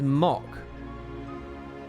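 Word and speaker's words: Mhach: to be exercised mac is pronounced as mock and mackie is pronounced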